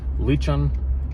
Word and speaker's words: Lican: So, the channel is called Leechon Outdoors. say leech like the bait leech on. Leech, not liking, not leaking, not anything like that.